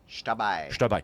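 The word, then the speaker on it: Xtabay: It's spelled with an X. So that's how we're just modern. We're marking the sh sound. Is Shtabai. Okay, so the X in front of that was probably originally Ishtabai, because we find forms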